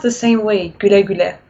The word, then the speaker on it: güle güle: Is it like güle güle? Güle güle. Güle güle. Isn't that? Yeah, it's like almost in German you have this U with the umlaut. It's pronounced the same way, güle güle.